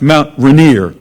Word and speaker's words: Mount Rainier: r-a-i-n-i-e-r well if you're in washington state it's pronounced mount rainier if you're in monaco the royal family those